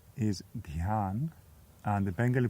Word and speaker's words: Dhyan: The Sanskrit pronunciation is Dhyan, and the Bengali pronunciation is Dhyan.